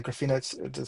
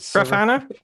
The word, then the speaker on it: Grafana: pie running a graph I mispronounce it graina graph yeah graina grafana grafana thank you oh my goodness I